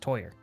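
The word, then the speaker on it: Týr: but yeah he told me he's like it's pronounced toyer oh and I was like oh I was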